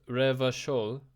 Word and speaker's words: Revachol: Pronounced Revachol.